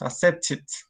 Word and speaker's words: accepted: So just remember, if the verb accept, that is the base form of this, accept, ends with T, the ID sound is going to be pronounced, accepted.